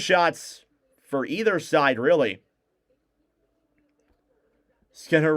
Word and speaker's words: Skinner: Skinner rhymes with spinner, huh?